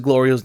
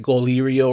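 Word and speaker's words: Glorio: being his silly self mispronounces Gloria's name as he always does I think goio or something like that he calls him and then glor is like no I need you to say my name correctly at this point it's on purpose he like no it's not then say it correctly if not I won't answer you so he's like it's Gloria he's like Gloria and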